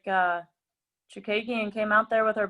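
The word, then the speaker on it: Chookagian: Chukagian, yes, there you go.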